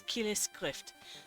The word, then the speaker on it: kileskrift: I said schrift instead of skrift.